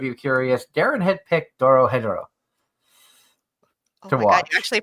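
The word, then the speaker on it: Dorohedoro: For those of you curious, Darren had picked Doro Hedoro. Oh my God, you actually pronounced that correctly.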